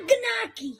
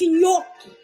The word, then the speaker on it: gnocchi: It's not gnocchi. It's gnocchi.